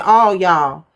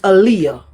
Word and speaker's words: Aaliyah: I said all y'all, but it's Aaliyah.